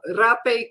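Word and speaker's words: rapé: know I it uh the thing I don't like is that it is spelled like rape it except the accent is on the E so it's rap but uh it can also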